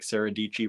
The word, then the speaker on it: Sara Dietschy: it was sara dietschy i think saradici rhymes with peachy um so yeah people